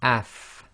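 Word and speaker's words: ف: So in this case it's going to be af, af, and you should really be able to feel your teeth coming together, your upper teeth coming together with the inside of your bottom lips. And by pronouncing it with the sukoon, you should start to see, you can really tell where the actual place or which parts of your mouth are being involved.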